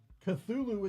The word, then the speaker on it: Cthulhu: for example in Cthulhu Cthulhu itself is like supposed to be unsayable. Like it's not it's uh he even described it. It's like it's like a three syllable word spoken in two syllables. Like it's not meant for our vocal cords to even be able to like be able to reproduce it.